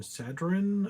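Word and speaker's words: Sanhedrin: of the song is S A N H E D R I N. Sadin, I think is how you pronounce it.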